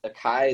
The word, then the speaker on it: Akai: I got in Akai.